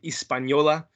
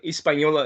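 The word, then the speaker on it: Hispaniola: there is you know uh the island of espanola um haiti uh dominican republic espanola um where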